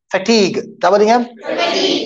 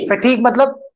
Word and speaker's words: fatigue: it it has a different pronunciation it is pronounced as fatigue fatigue you are completely totally exhausted you run out